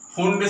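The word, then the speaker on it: Pfund: और पांचवी श्रेणी 1, 2, 3, ये फुंड श्रेणी, या इसको पी फुंड भी बोल सकते हैं, बट पी इज साइलेंट।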